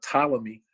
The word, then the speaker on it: Ptolemy: by the name of ptolemy even though it's spelt with a p p p-t-o-l-e-m-y becomes he gets egypt